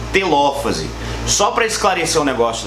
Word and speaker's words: telófase: Só para esclarecer um negócio legal, todas essas palavras elas possuem um acento, tá? Prófase, metáfase, anáfase e telófase. Então, cuidado na hora de você pronunciar isso, porque a gente tem muito aluno que fala metafase, interfase, profase, tá bom? Tem um acento aí, beleza?